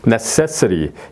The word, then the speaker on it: necessary: 그 다음에 여기도 it 앞에 바로 이제 s의 발음이 액센트가 들어가죠. necessary 여기 it도 바로 이제 시와 어로 발음이 되죠.